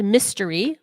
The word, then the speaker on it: Mystery: a new fan um my name is pronounced mystery like the Mysteries oh mystery okay yeah